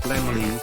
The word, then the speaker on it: Laemmle: Universal was founded in 1912 by the German Karl Laemmle, pronounced Lemley, Mark Dintenfass, Charles O.